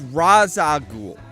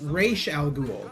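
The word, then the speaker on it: Ra's al Ghul: it bothers me it's like animated okay it's raza ghoul okay so rachel either chicken of the either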